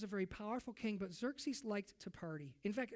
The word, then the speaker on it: Xerxes: Now, the most powerful king of that day was a king named Xerxes, spelled with an X, okay? So it's Xerxes, all right?